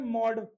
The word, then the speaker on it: MODE: ये mean median मोड वाला मोड नहीं है, ये मॉड है। ये क्या है? मॉड। थोड़ा सा डिफरेंस होता है बोलने में।